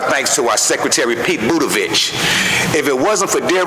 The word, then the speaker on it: Buttigieg: Also, want to give out a thanks to our Secretary, Pete Buttigieg. If it wasn't for dear old Pete Buttigieg, we wouldn't have that. I might be saying his name wrong. What's his name? Buttigieg.